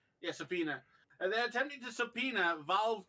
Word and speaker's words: subpoena: yes Apple are attempting to how do you pronounce that word sopra yeah subpoena they're attempting to subpoena valve Cor uh for